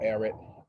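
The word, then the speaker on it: Ehret: to arnold aaron that that that last name is spelled e-h-r-e-t arnold aaron uh for those of you who might be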